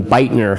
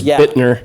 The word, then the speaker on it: Bittner: anything else i i corrected your pronunciation on bitener i heard it earlier it was bittner yeah that's right yeah